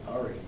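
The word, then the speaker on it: Ira: And I asked, how do you spell that? He said, I-R-A, Ari.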